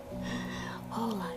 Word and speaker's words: Hola: I've heard that. Not holla. Hala like say hello like all happy. Hola.